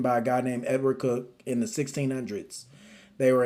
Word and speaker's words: Coke: Whenever you want to start studying the common law, you can start with these books by a guy named Edward Cook. It's spelled Coke.